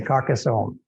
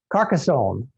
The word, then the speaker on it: Carcassonne: famous for their white wine in this region carcassonne is that how you say it yeah okay carcassonne i had some videos from previous years i said it many different ways but uh carcassonne let me say it again in carcassonne is